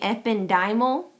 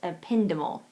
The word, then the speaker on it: ependymal: The next one, you can say it two ways. I'm going to say ependymal because that's how it looks, and that's how I've always heard it pronounced. But I've also heard it pronounced ependymal. Ependymal or ependymal. You'll hear it either way.